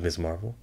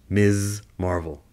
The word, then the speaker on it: Ms. Marvel: to see him in black panther speaking of miss marvel this has you know what i'm you know